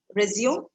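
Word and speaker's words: résumé: This is again not an English word. Now, this word is pronounced as resume, right? Resume. Resume is a different English word which means to continue something that you stopped.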